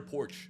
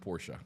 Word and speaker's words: Porsche: That's like a starter porch. yeah. I would do it. What's a porch? Porch. A Porsche. Porsche. A Porsche. A Porsche. It's pronounced Porsche.